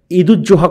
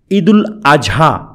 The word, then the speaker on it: ঈদুল আযহা: বলা বাহল ঈদুজোহা কথাটি ঠিক নয়। আমরা অনেকেই ঈদুজোহা কথাটা উচ্চারণ করে থাকি। আজকে কি দিন? আজকে ঈদুজোহার দিন। ঈদুজোহা আসলে ঠিক নয়। ঈদুল আযহা। এটাই ঠিক।